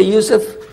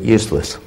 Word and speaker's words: Yusuf: to be in English my name is Yusuf can you say Yusuf first time you get it right all these years my wife still pronounces it useless could be a speech